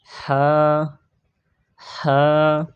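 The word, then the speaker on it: ح: এরপরে হা হা হা হা হা হা।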